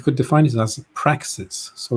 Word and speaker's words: praxis: sorry but i i i'm maybe i didn't pronounce properly but i i meant practice not practice practice oh p-r-a-x-i-s yes praxis it's a different thing from practice